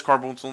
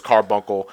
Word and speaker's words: Carbuncle: It is Carboonsel in some locations. Because I hear both of them. Yeah, I do too. It depends on how soft... Depends on the person, like how they pronounce the C.